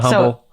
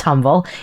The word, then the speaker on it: Humble: Have you ever been to Humble? Okay. Been to Humble? I was just about to. So it's not pronounced humble. It's pronounced really humble.